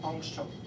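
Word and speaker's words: ångström: The diameter of your hair is 500,000 angstrom. That's a lot, right? Angstrom. That's how it's spelled. But you put two little dots here, because I think it's Swedish. Anyway.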